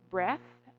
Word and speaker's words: breath: So, lets have the first one, we have: "breath". OK. Without an E (at the end). And the second one, with an E: it's "breathe". OK?